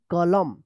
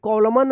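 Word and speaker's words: column: है तो क्या होगा एन साइलेंट रहेगा एम का उच्चारण होगा क्या पढ़ेंगे कॉलम कॉलम पढ़ेंगे कॉलम सी ओ एल यू एम एन कॉलम कॉलम ठीक है कॉलमन मत पढ़िएगा यहां पे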